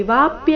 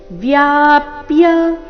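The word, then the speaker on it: व्याप्य: ತ್ವೌ ಈ ವಾವ್ಸ್ತ್ವ ವ್ಯಾಪ್ಯ ಗಮನ ಕೊಡಬೇಕು ಇಲ್ಲಿ ವಾಪ್ಯ ಅಂತ ಇಲ್ಲ ಏನಿದೆ ವ್ಯಾಪ್ಯ ವ ಅಧಿಕ ಯ ಸೇರಿ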